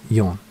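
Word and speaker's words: よん: for death is pronounced there is also another way to say the number four because of this reason which is yon and it seems to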